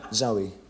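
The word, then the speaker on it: Zowie: Zoe, Your son's name is Zoe Bowie.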